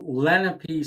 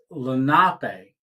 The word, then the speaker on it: Lenape: for a a Solar Company it was called Lenape solar oh that's how everybody pronounced it but it's not it's Lenape and I work I work for them as